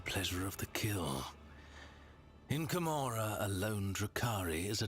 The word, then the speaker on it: Commorragh: Commorragh? You don't even pronounce the G?